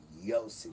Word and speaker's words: Yosef: Whether they transfer it into English and call it Joseph, when you bring it into Israel, it's Yosef spelled with a Y.